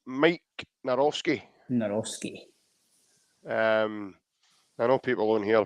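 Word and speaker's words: Maik Nawrocki: And the way you pronounce his name is Mike Narowski.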